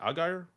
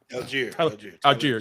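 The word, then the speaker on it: Allgeier: __ ] by Tyler, like a was it Aguire? Tyler Alier. Yeah. Um Jay pronounces his name wrong all the time and then now like I do it cuz anyway uh cheer.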